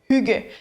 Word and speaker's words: Hygge: Fait que des Y, c'est plus comme des U. Okay. Fait que c'est vraiment, ça se prononce Hygge.